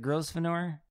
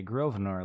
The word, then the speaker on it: Grosvenor: an s in there it does have an s but i think the s is silent okay grosvenor let's go with that helen grosvenor played by zeta johan